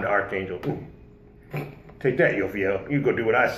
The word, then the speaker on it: Jophiel: day apparently she goes by the name of Joe feel or you'll feel if you want to be correct right I'm